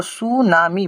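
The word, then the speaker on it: tsunami: अब देखिए यहां पर टी को हम लोग हटा देंगे। यह टी को जैसे ही हटाए तो यहां पर सु नामी बन रहा है।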